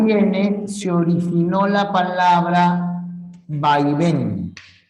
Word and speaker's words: vaivén: se originó la palabra vaivén No puede haber acento en las primeras tiene que estar al final lleva o no lleva tilde Sí porque es aguda que termine en N y qué ocurre si